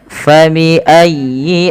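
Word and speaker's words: فبأي: Kemudian fabiayyi alaikuma tukadziban. Fa nafarnya alif mengalirkan nafas. Fabiayyi. Tekan ya-nya tapi dengan lembut karena ya termasuk huruf lin.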